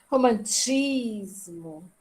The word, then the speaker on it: romantismo: E aqui eu tenho como sílaba tônica a última, a penúltima ou a antepenúltima? Penúltima. A penúltima, né? É. E não tem acento, estão vendo?